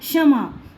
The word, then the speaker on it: क्षमा: अगर हमारा श क्षत्रिय किसी वर्ड में पहले आया है तो हमारी श षटकोण की साउंड आएगी, क्योंकि इसमें क साइलेंट हो गया है, क्योंकि इसमें क व्यंजन साइलेंट हो गया है, मैंने लिखा है ना, क व्यंजन हमारा साइलेंट हो गया है। तो क्षमा, इसे हम बोलेंगे क्षमा।